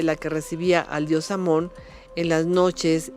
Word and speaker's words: Amón: el hijo carnal de Amón. Curiosamente, Amón se pronuncia Imen, y ojo con Imen.